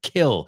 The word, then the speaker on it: kill: So let's rhyme some words with keel, que creo que esa es la que soléis decir en vez de kill, right? He's a killer, not kill, kill, a killer, kill.